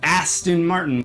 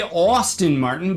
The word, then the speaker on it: Aston Martin: and got popular after a year where I mispronounced Aston Martin, which is Aston Martin. I didn't say Austin Martin, but they all seem to think I said that.